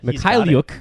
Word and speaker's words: Mikhailiuk: I watched a YouTube video on how to pronounce his last name. Oh, okay, very good. Mikhailiuk.